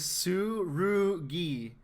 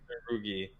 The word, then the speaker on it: Tsurugi: His name is Tsurugi. Tsurugi. The Ru comes before the G. Tsurugi. Sarugi. I can't pronounce words. You say Saguri, and Sarugi.